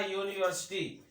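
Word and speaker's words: university: यू का pronunciation क्या आ रहा, अम्ब्रेला आ रहा, आ से आ रहा है। लेकिन यहाँ यूनिवर्सिटी, यहाँ इसके आगे हम एन का प्रयोग नहीं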